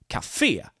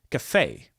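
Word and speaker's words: kafé: means Coffee Cafe but the word Cafe is stressed on the last syllable here kafia Cafe particle verbs meaning a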